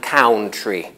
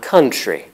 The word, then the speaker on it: country: but native speakers don't say Salvin and count ree we say southern and country the pair south southern has the same vowel alternation as profound profundity though the spelling remains unchanged and the vowel of country is different from that of count why did they teach